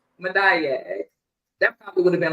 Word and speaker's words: Madayag: It's Madayag. Madayag.